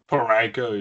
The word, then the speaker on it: Parayko: don't see anybody on here that, because Colton Parayko, did I say his name right? Parayko, yeah.